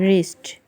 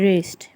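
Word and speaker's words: wrist: रेस्ट क्लाई, इसमें silent जो word होते हैं उसकी वजह से आवाज़ में बहुत चेंज आ जाती है। रेस्ट, रेस्ट, डब्ल्यू को बिल्कुल साइलेंट किया हुआ है, रेस्ट।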